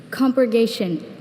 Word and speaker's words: compurgation: Compurgation. Can I have the definition, please? Compurgation means vindication as from a charge or testimony or evidence that vindicates. Compurgation. Are there any alternate pronunciations? Just compurgation. Compurgation.